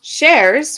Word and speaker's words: Sherz: her bio yes um shares which is pronounced like more than one share is an Iranian American